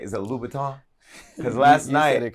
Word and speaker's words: Louboutin: did I say his name right is it Louboutin because last night correct because last night Tiffany